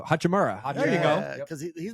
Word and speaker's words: Hachimura: who's the uh the hermachi what's his name I said it wrong I already knew hachimura there you go because